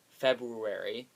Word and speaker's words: February: unusually big for February February I pronounced the r in February unlike some people even